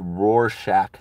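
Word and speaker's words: Rorschach: be me right you is pronounced Roar Shack test okay I'm gonna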